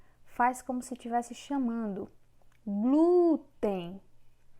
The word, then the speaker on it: glúten: Glúten. Na palavra glúten, o glu é que tem uma força maior. Nesse caso, é paroxítona.